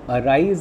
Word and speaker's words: arise: So arise, in arise, we find that the stress is on R.